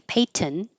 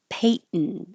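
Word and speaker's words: Peyton: N noise paint and here with this person's name Payton I'm I'm not making a little nasal before I stop the sound but they're close enough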